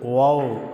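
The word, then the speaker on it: ו: சில எழுத்துக்களை நாம் எழுதுவோம் ஆறாவது எழுத்து வாவ் அப்படின்னு உச்சரிக்கிறோம் இந்த வாவ் என்கிற அந்த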